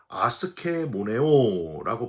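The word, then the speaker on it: ἀσχημονέω: 헬라오로 아스케모네오라고 발음을 하는데 상대방에게 돌아가야 할 존경과 명예를 인정하지 않는게 바로이 무의히 행하는 겁니다.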